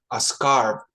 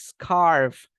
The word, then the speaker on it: scarf: very good this is scarf be careful with the pronunciation of this one okay because as you can see we have a letter F here if you say scar you're saying umatris scar like this movie Scarface